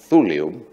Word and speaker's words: thulium: is thulio and i should distress that it's pronounced thulium because it's named after the greek word of